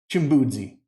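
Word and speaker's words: chimbudzi: to say this word shimbuzi now this one is a little bit hard because you got a DZ in there but it's simple Jim boozy and that's how we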